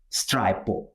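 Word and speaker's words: Stripo: It's Stripe or Strip. Okay, people usually say Strip, but right way is a Stripe.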